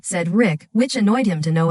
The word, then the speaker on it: Cedric: Sophia used to mispronounce his name as CDRIC rather than said Rick, which annoyed him to no end.